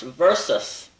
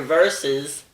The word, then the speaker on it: versus: comes in the pronunciation it's pronounced versus but many times you'll hear verses or verse well it has nothing